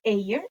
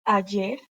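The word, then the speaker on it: ayer: idea that is yesterday don't say a year is ajer oy that is today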